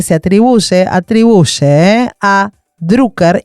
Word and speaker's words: Drucker: eh a Drucker y perdón la pronunciación es Drucker porque es austríaco. A mí me lo enseñaron en la facultad y me voy a las piñas. Your face. Todos los que le decíamos drcker, mal. Drucker.